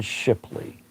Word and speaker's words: Shipley: a hold of Don Shipley. Okay, and it's spelled just like it sounds, Shipley.